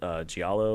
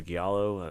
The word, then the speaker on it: giallo: Italian Italian movement called giallo or giallo however you want to pronounce it oh it's yeah yeah